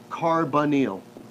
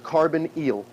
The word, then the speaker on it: carbonyl: o is called a carbon eel it is pronounced carbon eel carbonyl which is weird